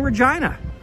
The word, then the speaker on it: Regina: Just wanted to give you guys a quick glimpse of what's going on here in Regina. And yes, that is how you actually pronounce the name of our city.